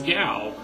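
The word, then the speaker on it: Gau: like hey everybody this is gal g a u pronounce more like I'm not going to pronounce it gay I'm sorry that just sounds ridiculous gal's kind of an orphan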